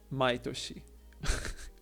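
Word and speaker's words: 毎年: stupid oh my God so last year is kionen but every year is maitoshi with the same kanji other forms mining all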